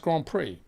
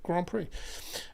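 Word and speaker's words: Grands Prix: plural plural s but still pronounced Grand Prix actually isn't it because it's French so whether it's in Grand PRI or grand PRI it's still Grand Prix are you looking forward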